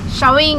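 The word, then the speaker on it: Chaweng: Showing is the correct pronunciation.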